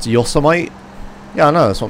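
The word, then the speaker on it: Yosemite: car there's the bridge it's pronounced yosmite yeah I know that's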